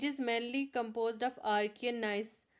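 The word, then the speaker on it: gneiss: इट is mainly composed of Archaean nice. इसमें जी silent रहता है। लेकिन मैंने फ्लो में गिन गिसेस पढ़ दिया। जी साइलेंट है। ठीक है? नाइस है यह।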